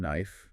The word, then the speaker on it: knife: Remember the K and knife is silent. Fork, spoon, knife, and sometimes chopsticks depending on the food or culture.